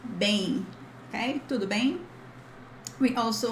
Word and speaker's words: bem: But this bang is not exactly bang that we use. That's why I added the in, because we have the sound of E in the middle of bem, tudo bem. So this is like bem in, but faster, bem, okay, tudo bem.